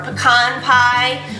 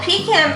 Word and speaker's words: pecan: substituting it for the pean pie or pecan pie peon yeah or if you you want to say it like she does that's fine too but yeah the peacan pie is served just